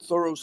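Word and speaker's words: Thoreau: I put my stock in the regular way, she said, thorough, like a lay person would say it.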